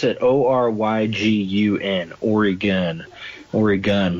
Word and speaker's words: Oregon: favorites are again I always just say Oh pronounce that Oh ryg un or again or a gun like that so